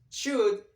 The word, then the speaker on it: should: for obligation or advice should in Spanish is the bear okay here here we should not or we shouldn't pronounce the letter L and the end just the letter d should not show it